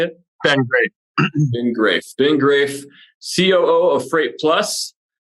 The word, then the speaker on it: Graeff: Ben Graeff.